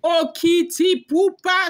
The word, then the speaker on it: Okitipupa: You heard the way I pronounced it now, no? Okitipupa.